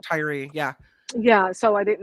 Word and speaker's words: Tyre: say his name correctly I think it's Tyree it's t-y-r-e so I pronounced that Tyree yeah yeah so I